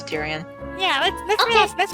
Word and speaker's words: Tyrion: I pronounce it Tyrion.